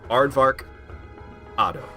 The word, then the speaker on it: Aardvarkado: It's like, just say Aardvark, and then the end pronunciation of avocado. So, Aardvarkado.